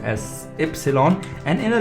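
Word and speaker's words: Ypsilon: has that sound epsilon why completely is called epsilon i i understand there are many syllables in here but y is pronounced as epsilon and in a letter in a word itself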